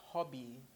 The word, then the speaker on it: Hobby: be teaching you about hobby you know it's the same pronunciation as English of course you know